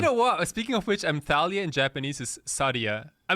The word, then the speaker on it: Thalia: Not like Team Thalia, or maybe it's Team Dude, if it's Team Thalia, I will always drop immediately. But you have to pronounce it the German way, Team Thalia.